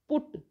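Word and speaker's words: put: पुट, पी यू टी, पुट में जो यू है वो ऊ का उच्चारण देती है।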